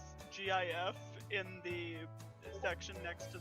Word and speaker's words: GIF: the dock I personally think that gif is the correct pronunciation however I was in a relationship for five years with somebody who said Jeff so it just kind of